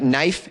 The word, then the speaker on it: knife: Like knife, K-N, the K is silent.